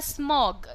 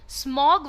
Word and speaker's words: smog: Not only intensified fog, ये जो आपका वर्ड होता है स्मॉग, ये स्मॉग वर्ड पहले तो ओ पर आपको जोर डाल के प्रोनाउंस करना होता है।